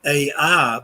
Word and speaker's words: Ai: a biblical town that in the Bible is called Ai, but it's actually in Hebrew simply pronounced I. The A is silent.